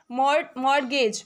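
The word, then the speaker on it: mortgage: मोरगेज। मॉर्गेज का होता है बंधक या गिरवी। नहीं कहते हमने मॉर्गेज रख दिया है। तो यहां पे टी साइलेंट होता है।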